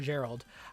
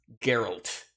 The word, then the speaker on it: Geralt: than say link or Gerald I'd say it's going to be the size of breath of the wild or Skyrim's world it's pronounced geralt sir at the very least